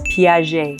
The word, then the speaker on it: Piaget: And the reason is because the G is like a J, it's nice and soft, J. And at the end of the word, there's a T, but you don't pronounce it. So it's Piaget, nice and soft.